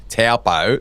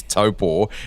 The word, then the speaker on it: Taupo: How did this deal to go to Aussies say Taupo? The correct pronunciation is Taupo.